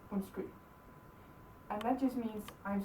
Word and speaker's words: undskyld: Ours is undskyld. 2 syllables. Undskyld. Both of these D's are silent, so you don't need to worry about them. Just like this. Undskyld.